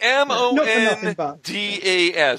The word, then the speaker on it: Mondas: It's M-O-N-D-A-S.